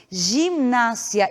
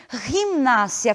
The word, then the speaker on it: gimnasia: que aparece na tela nós não pronunciamos tem gimnasia e sim gimnasia com o g a pronúncia gutural laat da mesma maneira